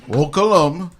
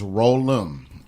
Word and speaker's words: Rollem: Please pronounce it Rollin, not Rollin, not Rollum, or whatever y'all say. It's Rollum, ROLLEM.